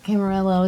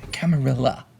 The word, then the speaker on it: Camarilla: Camarillo is going to fall. That's what this vision means. Camarilla.